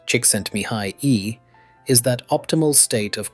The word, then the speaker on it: Csikszentmihalyi: Flow, a term coined by psychologist Mihai Csikszentmihalyi, pronounced Csikszentmihalyi, is that optimal state of consciousness where we feel and perform our best.